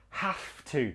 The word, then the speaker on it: have to: pass this exam pronunciation not have to with a V it's more like a f an F have to say it with me